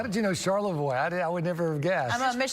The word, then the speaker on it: Charlevoix: How did you know Charlevoix? I would never have guessed. I'm a Michigan native. Yeah, that's up north. There you go. Yeah. It's spelled Charlevoix. Voir with an X, I know.